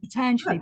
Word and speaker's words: Patanjali: I quite liked, well, I've always called him Patanjali, and I've heard other Indians call him Patanjali. And then I went to one of the theosophical schools, and it was Patanjali. That's how you say it, Patanjali.